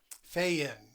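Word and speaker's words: faen: The fain or the fiend. Feain is the pronunciation.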